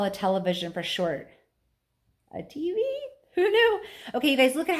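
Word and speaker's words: Teavee: I'm just realizing this, but you see how his name is spelled? T-E-A-V-E-E, but it sounds like TV. And what do we call a television for short? A TV? Who knew?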